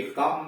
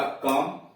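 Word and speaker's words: come: अब इसमें देखिए कम में यह ओ जो है यम व्यंजन है, यम के माध्यम से ई जुड़ा हुआ है लेकिन उच्चारण हुआ कम, कुम तो हुआ नहीं कम हुआ।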